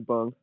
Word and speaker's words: Bung: how do i say is it bong it was i saying it right or no oh my friends call me bung oh okay cool what's